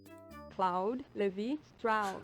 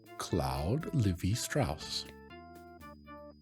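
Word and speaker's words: Claude Lévi-Strauss: Oh, will you tell me how to pronounce your name? Claude Levi-Strauss. Levi. Claude Levi-Strauss.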